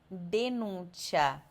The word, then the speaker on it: denuncia: Então, ao invés de você ler ciao, cera ou denúncia, você vai ler ciao, c'era, denuncia.